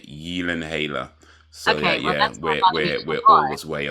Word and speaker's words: Gyllenhaal: According to Google Gemini, it is pronounced Gyllenhaal, and it's a Swedish origin. Gyllenhaal.